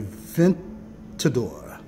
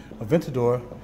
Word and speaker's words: Aventador: This car is, read it for yourself because I don't want to mispronounce it. And not the Aventus, okay? It's the Aventador. Aventador.